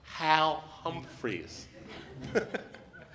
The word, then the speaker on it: Hal Humphreys: Our next guest, his name is pronounced Hal Humphreys.